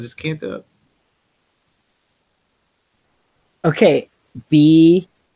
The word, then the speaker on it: Bjelica: Bielica. Can't do it. Tyler, I can't do it. I'm too Midwestern. I just can't do it. Okay. Bielica. That rhymes with pizza.